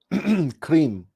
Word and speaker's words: Krim: Krim. Now this R is supposed to be rolled.